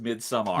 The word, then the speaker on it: Midsommar: I No, you're pronounce it. saying it right because it's an AR, not an ER, so it is Midsummer.